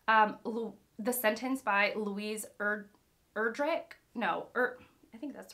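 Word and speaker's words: Erdrich: the sentence by Louise erdrick no or I think that's right the sentence by Louise erdra erdrick I think it's the hard C at the end rather than urge rich like anyways I think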